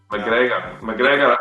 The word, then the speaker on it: McGregor: Ooh, McGregor. You'll find that in Scotland, Mac or Mick at the start of the name is very, very popular. In Scotland and Ireland. Scotland, McGregor, McAlpine, McAllister, a lot of them.